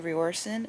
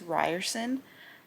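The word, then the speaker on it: Riorson: Like Zayen, I've been saying Rioren, it's Ryerson.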